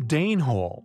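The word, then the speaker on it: Denehole: Denhol, yet pronounced Danehol after the Danes.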